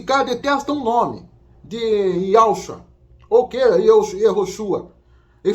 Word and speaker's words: Yehoshua: Quando você vai para Israel, você não vê ninguém falando Yehoshua. Não, você vê o pessoal falando Yahshua.